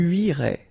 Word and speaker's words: irais: Tu irais. Same thing here, final S not pronounced. Tu irais.